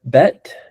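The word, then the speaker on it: בּ: Is that Is that bet? That's vet. But now we're going to put the ball on it so it makes it what?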